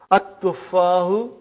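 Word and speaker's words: التفاح: But now your mind knows that is a sun letter. So you will pronounce as at-tufahu. You will put a shadda anta. At-tufahu.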